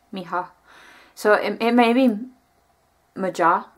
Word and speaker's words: Maja: It's M-A-J-A. But usually the J, a lot of times in a name like that, is pronounced like a H, Miha.